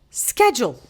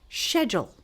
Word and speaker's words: schedule: this American accent and she would pronounce this word as schedule. But when I started taking my Selta courses from Cambridge University, I had this teacher trainer very strong British accent and she would say schedule.